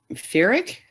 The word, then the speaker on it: Pyrrhic: How do you pronounce that word, Karen? Pyrrhic?